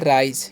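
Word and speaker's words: rise: करना है ठीक है अब आर आई एस है ना तो इसे हम लोग पढ़ते हैं राइज क्या पढ़ना है राइस नहीं पढ़ना है राइज पढ़ना है ठीक है एस टी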